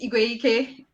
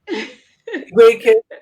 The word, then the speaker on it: Igweikwe: But it's pronounced Igweike. Igweike. Okay, fine. Igweike.